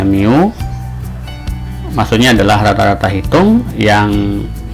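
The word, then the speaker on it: μ: Ini bacanya mu.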